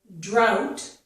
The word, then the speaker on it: drought: The GH is not pronounced. Now we go down here, we have the word drought. So first of all, this starts with 2 consonant sounds, the D and the R, dr.